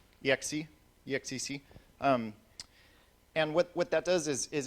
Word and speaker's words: exec: How do you pronounce that? X, exec.